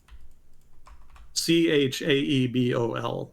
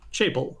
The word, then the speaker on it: chaebol: Chaebol. There we go. So let's do pronounce. Chaebol.